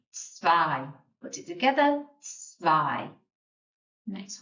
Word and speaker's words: zwei: The number 2 is zwei. There's that sound again. E-I. We're pronouncing the I. So zwei. If you remember from up here, The Z sounds like S, and the W sounds like F.